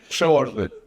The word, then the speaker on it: Przelozny: on camera to pronounce your name, the correct pronunciation? Przelozny.